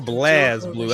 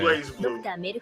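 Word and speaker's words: BlazBlue: So is it Blaze or Blaz Blue? I've heard it. Blaze. Blue. Oh, okay. Blaze Blue. It's Blaze Blue. If anybody saying Blaz, they got a problem.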